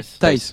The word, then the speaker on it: Thijs: Comment on le Euh, prononce Thijs. ouais. Thijs.